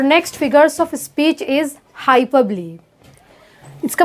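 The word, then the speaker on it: hyperbole: और next figures of speech is हाइपरबली। इसका pronunciation होगा हाइपरबली।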